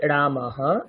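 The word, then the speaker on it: रामः: রাম রাম রামাহ উচ্চারণ করতে হবে রামাহ আস্তে আস্তে বলুন রাম রামাহ রামা রামাহ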